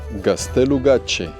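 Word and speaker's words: Gaztelugatxe: Bienvenidos a gastelu gache se dice gastelu gache se escribe así porque la TX en el euscadi se lee como si fuera ch para el español o sea Suena la Che y gastelu porque eso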